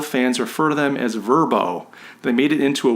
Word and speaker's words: VRBO: all kinds of languages the word verbo is easy to pronounce as opposed to trying to pronounce the letters and in an English or Western way smart move and you'll